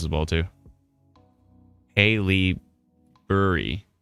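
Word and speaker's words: Haileybury: Haley Burry. Accent on the first syllable.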